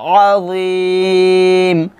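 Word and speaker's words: عظيم: উচ্চারণ হয়ে যাচ্ছে, তো জটা মোটা করে উচ্চারণ করতে হবে, আনিন্না বা ইল আযীম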